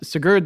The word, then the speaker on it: Sigurd: is my favorite too it's not canute the great no not canoed but uh sigurd the mighty yes i'm saying it right he was the first